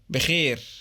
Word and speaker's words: بخير: In Egyptian Arabic, bikhair is sometimes used, but it's pronounced like this. بخير. Notice that the diphthongs of modern Standard Arabic are normally pronounced as simple vowels in Egyptian dialect.